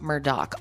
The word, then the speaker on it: Murdaugh: so the Murdoch family their name looks like murder it's pronounced Murdoch and the father in